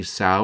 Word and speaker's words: Sao: As you do, rationally say, "Sao rhymes with saw."